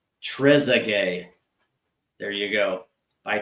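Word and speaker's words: Trézéguet: He says it's pronounced Trezay. There you go. By Trezay.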